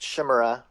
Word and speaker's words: Shimura: said it before yeah it's yeah it's just Shima pretty basic people have problems with that I